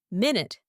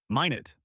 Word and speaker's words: minute: Minute is another good one, especially for things you can barely see. Pronounced minute. Minet, like a tiny detail or a minuscule insect.